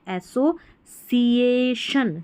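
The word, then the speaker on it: association: इस स्पेलिंग में। एसओ बन गया, ASSO, एसोसिएशन, सिएशन, इसको तो शन पढ़ रहे हैं, लेकिन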